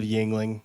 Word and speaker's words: Yingling: First, incredible pronunciation of Yingling. You did a spot-on job. It's like the beer, but I don't get any beer royalties, so we had to do Rhetoric instead.